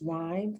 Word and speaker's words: rhyme: you have the y the y is pronounced like the long i line that's how i do